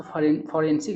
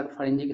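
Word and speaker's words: forensic: आगे क्या करा, वी जस्ट रिसीव द फॉरेंजिक, इसको फॉरेंसिक नहीं पढ़ा, फॉरेंजिक का सही उच्चारण होता है कंफर्मेशन दैट द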